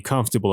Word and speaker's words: comfortable: house part four pronunciation unpronounced vowels vowel ha by your heart average average enemy game average your academy party different diff rent diff rent different name or separate separate separate the other ones comfortable comfortable comfort table knees comfortable interesting interesting interesting vegetable vegetables so let's pronounce them again together average average different different separate separate comfortable comfortable interesting interesting vegetable vegetable part 5 listening a home